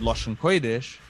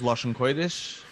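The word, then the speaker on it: loshn koydesh: For example, a vav here in Koidish A vav is not a u, it's oi. But once you know that this is Lashon Kodesh, you can identify, yeah, that this is Lashon Kodesh and see why it is.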